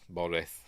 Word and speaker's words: Boreth: it is anyway so it goes to Bor boreth it's pronounced and he has his vision obviously he